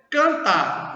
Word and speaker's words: cantar: Cantar. Mesmo jeito, ó. 5 letras, 4 fonemas. Por que 4 fonemas? Porque esse A e esse N eu pronuncio só an. Então só pronuncio uma vez. Então é canta.